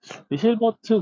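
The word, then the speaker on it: Hilbert: 근데 영어는 확실히 힐버트입니다. ER을 L라고 안 읽죠. 보통 어라고 읽죠. 그래서 이제 저 그것도 힐버트 공간으로 읽기도 해요.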